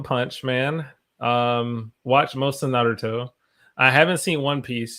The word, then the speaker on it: Naruto: How do you pronounce that? Naruto.